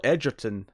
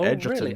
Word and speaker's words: Edgerton: So next up, Joel Edgerton signed on. Sorry, Joel Edgerton. I know this because I heard him say his own name recently. It's pronounced Edgerton.